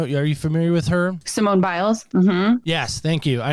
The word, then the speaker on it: Simone Biles: stop doing that I think her name is Simone bias you know are you familiar with her Simone biles mhm yes thank you I knew I was